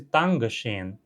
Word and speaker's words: Danke scheen: Então, a pronúncia mais neutra, digamos, Dankeschön. Dankeschön. Sons desvozeados. O T e o K são desvozeados.